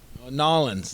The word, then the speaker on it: New Orleans: It depends where you're from, I guess. I say New Orleans, and maybe that's an Oregon thing. I said New Orleans. New Orleans. I've heard New Orleans. Nolans. New Orleans.